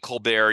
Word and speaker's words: Colbert: And again, Colbert, you don't pronounce that T.